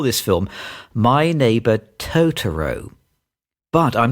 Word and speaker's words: Totoro: think I don't like we put a lot of emphasis on certain syllables and I don't think the Japanese do that so it's tooro tooro what did you